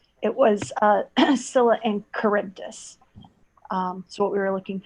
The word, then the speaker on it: Charybdis: Scylla, and Charybdosis, final answer. I'm sorry, that's incorrect. Scylla and Charybdis. It was Scylla and Charybdis.